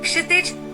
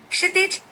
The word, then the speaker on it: क्षितिज: ये व्यंजन है क्षितिज का शब्द बनाता है। क्षितिज को बोलते वक्त याद रखिए कि इसमें श का एक अलग उच्चारण होता है।